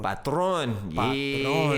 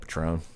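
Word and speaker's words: Patrón: You know, Patron. Yeah, you know what I mean? Yeah. I used to say it like that, Patron.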